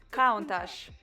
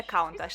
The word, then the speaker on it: Countach: досить Круто А тепер каунтаж Подивіться сюди пишеться Ось так але вимовляється каунташ це італійське слово яке